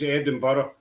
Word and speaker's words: Edinburgh: Um, that's how we pronounce Edinburgh.